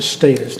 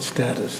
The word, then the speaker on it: status: I pronounce it status, not status.